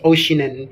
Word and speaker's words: Oeschinen: The pronunciation is Oceanen because it's difficult to pronounce it sa German words.